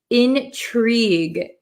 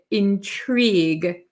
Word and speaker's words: intrigue: We don't pronounce this u or e really.